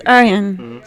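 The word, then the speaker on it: Ørjan: Okay, so you say your name? Orjan Nilsen. It's Arjan. So I said it wrong, actually. Not really, actually. You said Orjan.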